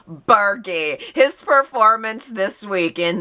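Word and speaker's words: Burgi: able to say it with 100 confidence richard bergie richard bergie richard bergie i confirmed it in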